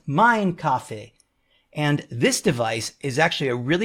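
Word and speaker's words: Mein Kaffee: this device is that many people call it the Main Coffee because of the way it's spelled. They spell it M-E-I-N coffee. But if you really know, the real purpose is that in German, you say Main Kaffee. Main is really said mine, so it's Mine Kaffee.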